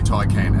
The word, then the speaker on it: Taycan: No - I can how do you say it it's Porsche ty can you know what if you want to say Porsche take in then go for it because there's no set heart and fast rules but apparently we have to say ty came and I know that